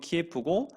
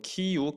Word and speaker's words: 키이우: 미국 대표들이 2월 24일 키이우는 키예프라고 러시아 발음으로는 키예프고 우크라이나 원어 발음으로는 키이우, 크이우 이렇게 발음을 한다고 합니다.